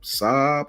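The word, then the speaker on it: Sabb: question with Keon is how do you pronounce his last name Saab or Sab we're gonna say Sab Sab Sab yeah so let's go with Sab until um he says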